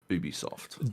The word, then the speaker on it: Ubisoft: ubisoft sorry ubisoft yeah as we learned this week it is definitively ubisoft didn't they put out